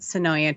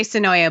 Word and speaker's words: Senoia: Yeah, I'd probably pronounce it Sonoya too, but I'm also one of those that's unsure about Des Moines.